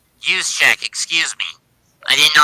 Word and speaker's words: Juszczyk: It's caught by Kittle, or Jerzik, excuse me, and he's gonna get 8. He's gonna get 6. Use check, excuse me.